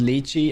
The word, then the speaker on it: lychee: It's pronounced lychee.